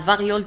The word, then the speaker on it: variole: انتبهوا كذلك على أن variole تكتب ب R I O L E وتنطق غيول la variole la variole la variole.